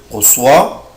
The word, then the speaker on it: reçois: لو انا شلت الاكسون اللي تحت السي هتبقى garçon. خلاص، يبقى اخد بالي جدا انا حاطط ليه الاكسون دي تحت حرف السي عشان انطقها اس. je reçois، tu reçois، il reçoit،